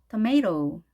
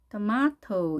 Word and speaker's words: tomato: 자, tomato 하는 것은 아메리칸 스타일이고요. 두 번째, tomato 이렇게 R 발음을 하는 경우는 영국식 발음인데요. 두 가지 다 가능하겠죠? tomato. 영국식을 할 때는 T 발음을 그대로 살려서 발음을 해줍니다.